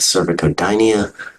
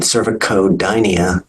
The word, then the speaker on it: cervicodynia: it's cervicitis so again the C can be hard or soft in cervic codia it's a c k sound in cervicitis it's the S sound Hyo Metro and utero